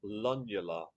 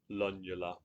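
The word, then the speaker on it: lunula: Lula. That I mean, that's how I've always pronounced it and I've never been corrected. Lula. I I can't think of I can't think of another way to say it. So that's that's what I'm going with.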